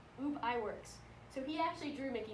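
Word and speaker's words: Ub Iwerks: lie and I also didn't know how to pronounce it either but it's UB I works so he actually drew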